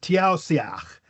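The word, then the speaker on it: Taoiseach: It has an I on one side of the S and an E on the other. And so we go ah immediately we go because now we have this little knowledge here. Those are slender vowels. Slender vowels make the s sh right?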